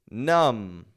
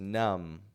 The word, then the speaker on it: numb: climbing no B sound just climb another one numb like when you sit on your hand and all the blood leaves your hand and then you can't feel anything it's numb numb or after the dentist oh my God